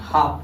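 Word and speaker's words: half: हा अदल हर्ब पढ़ते, यानी अब से पहले आया यल हमेशा साइलेंट होता है। इस नियम के अनुसार क्या पढ़ेंगे, इसको हम हाफ पढ़ेंगे। अच्छा, के से आया यल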